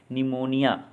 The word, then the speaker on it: pneumonia: PNEUMONIA, निमोनिया फेफड़ों की सूजन। PSYCHOLOGY, साइकोलॉजी मनोविज्ञान। WRITE, राइट मतलब लिखना। KNOWLEDGE, नॉलेज मतलब ज्ञान। आपने देखा कि इन शब्दों के प्रथम अक्षर का शब्द में उच्चारण नहीं होता।